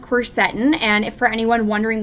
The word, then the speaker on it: quercetin: me but um yeah so it's actually pronounced quercetin and if for anyone